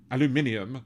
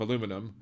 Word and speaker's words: aluminium: Or if you say it aluminium instead of aluminum, of course, you know,